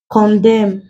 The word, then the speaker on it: condemn: solemn words like column condemn damn awesome in this words the end is not pronounced the N is silent so when letter A